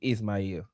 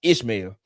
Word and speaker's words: Ismael: Y'all ever had people man my real my the real pronouncing of my name is Ismael, but people can't pronounce that. So they Ishmael, man.